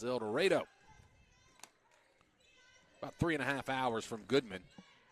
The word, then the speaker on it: El Dorado: will, of the South Arkansas Lady Stars from El Dorado, Arkansas, as I got the confirmation that is how it's said there in Arkansas. I know in other places of the world it's called El Dorado, but not in Arkansas, apparently.